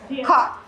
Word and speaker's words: khọt: And in this case, the bong khọt, there's a little dot under the O, so that tells you you're supposed to bring it down. So the KH is at khọt, and then there's ot, khọt, khọt.